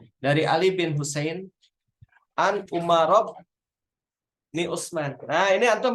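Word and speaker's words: عمر: Dari Ali bin Husain an Umarob ni Utsman. Nah, ini antum harus hati-hati ya. Kalau ain mim ro itu Umar bacanya. Tapi kalau ain mim ro wawu Amrun itu.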